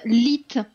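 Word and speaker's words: L3E7: alors ça se prononce lit ça se prononce lit c'est lit lit le 3 est un e le 7 est un T ah ok donc lit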